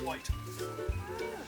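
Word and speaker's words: wyd: remember this one there it's actually a mispronunciation word for wide so they only eat grass they've got these big wide legs and in Afrikaans the word for wide is pronounced white these are white rhinos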